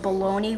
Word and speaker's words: bologna: is good but like I don't get why it's pronounced baloney when it looks like bologna bogna I think it